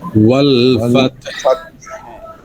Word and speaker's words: والفتح: হালকা একটু হায়ের উচ্চারণ হবে বলার মধ্যে, যেমন ওয়াল ফাত, ওয়াল ফাতহ ওয়াল ফাত, ওয়াল ফাতহ। হ্যাঁ, ওয়াল ফাতাহ বলা যাবে না কিন্তু, ওয়াল ফাতহ, والفت একটু والفت ফাত একটু গলার মধ্যে দিয়ে একটু বাতাস বের করা, তেমন কিছু না।